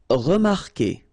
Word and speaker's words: remarquer: Okay, remember that when we've got this Q, and after that, well, vowel like here. Anyway, you've got to put this vowel U, even if you don't pronounce it. Okay, so it will go like que.